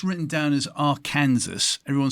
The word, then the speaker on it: Arkansas: Well, it's actually an Indian name. It means downstream people, and the Indians say Arkansas. It's not spelled that way, but if you spell it phonetically the way they spoke it, it's Arkansas. Gee, thank you.